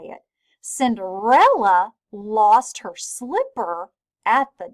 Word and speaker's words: Cinderella: did you spell Cinderella did you know that the CI is gonna be safe in Cinderella and there are four syllables in here Cinderella so it's a four syllable word right there lost her